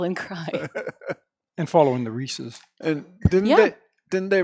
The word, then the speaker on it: Reese's: HB Rhys HB Rhys so I guess it's really Reese's Cups yep to rhyme with pieces although you hear people saying Reese's pcs or whatever day saying